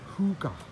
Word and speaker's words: Hygge: And here we've got Hygge as well, which is pronounced Hygge.